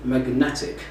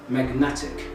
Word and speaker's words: magnetic: magnetic so you can notice that the word magnet is just on the first syllable when we added ic the suffix ic the stress moved to the second syllable and it became magnetic to pronounce like this magnetic another example about suffixes